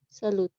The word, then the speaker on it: salut: bonne Salut. nuit, salut. Salud. Esta T, hemos dicho que no se pronuncian las T's al final.